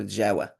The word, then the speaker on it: Jawa: Uh from which the coffee from from Java in Arabic they call Jawa. Uh actually pronounced as Jawa.